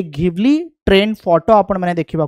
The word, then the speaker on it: Ghibli: आउ एक ना रही घिबली को जिबली बोली भी प्रोनाउंस करा जाए घिबली बा जिबली ठीक अच्छे।